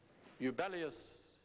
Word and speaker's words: Jubellius: the Capuans, Eubelius Tauria, spelled with a J, I'm advised that in that language and in those ancient times, there was no letter with a J sound in the alphabet. So while it is spelled J-U-B-E-L-L-I-U-S, it was pronounced as a Y.